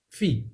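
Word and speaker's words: phi: the null set and it's pronounced fee as in school fee and then you have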